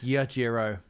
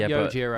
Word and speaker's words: Yajiro: It's Yajiro, not Yojiro. What did I say in the Sengoku? Song, Yajiro. In Sengoku, that's how it's spelled. Yeah. Yojiro. No, it's not. It's spelled with an A.